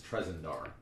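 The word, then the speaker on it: Tresendar: Actually, it's Trezendar. What? It's Trezendar, to actually pronounce it right.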